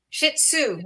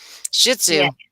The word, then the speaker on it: Shih Tzu: Shih Tzu Sue shitsu Shih Tzu yeah she says there you go that is how you pronounce it like you're right and a zoo like you're going to the zoo Shih Tzu Cheney says Patricia mine